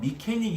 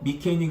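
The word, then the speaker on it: mechanic: 단어 미캐닉 이 있는데요 k 강세가 있습니다 그러면 캐 를 강하게 하다 보면 앞에 있는 미가 잘 안될 이겠죠 자아 포토 태양이 2 갤 때 켈 이런식으로 발음 하구요 정말 빨리 1 보면요 뭐 영어가 뭐 정말 빠르죠 어 빠르다 보면 차익 하고 이렇게 드릴 때도 있거든요 책 이외 그래도 미캐닉 으로 이식을 합니다 스펠링 에 집착하지 마시구요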